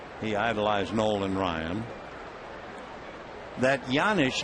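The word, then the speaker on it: Janish: Scott pedik can explain why the J sounds like a why it's a Czechoslovakian name the one-1 pitch fouled away one and two the name is spelled j a n i h but it comes out yanish cednik has that extra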